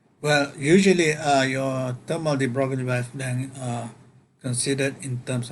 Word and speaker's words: de Broglie: sometimes called the thermal de Broglie, actually it's pronounced differently from the way it's been spelled.